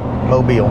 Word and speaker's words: Mobile: Mobile. That's how you say it, Mobile, Alabama.